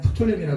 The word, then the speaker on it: 프톨레미: 그 다음에 프톨레마이오스 그런데 그냥 프톨레미라 그러시면 됩니다.